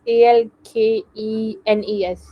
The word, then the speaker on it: alkenes: alken al um I don't know how it's pronounced but it's a l k e n e s alkenes yeah so these are alkenes